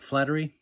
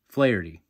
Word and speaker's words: Flaherty: Jack Flattery. No. Flaherty.